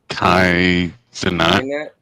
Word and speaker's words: Kai Cenat: Kai Cenat.